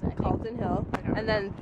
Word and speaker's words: Calton Hill: Yep, that's how you pronounce it. Calton Hill.